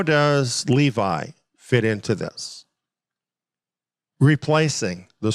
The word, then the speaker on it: Levi: Dan is removed and Levi is the one that's taking its place or levie if you prefer that pronunciation but it's interesting here